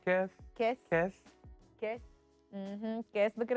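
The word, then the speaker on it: Kese: pronounced? Kes? Kes.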